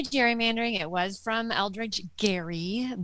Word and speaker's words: gerrymandering: democracy how we can fix the electoral college gary mandering she might say gerrymandering and our elections welcome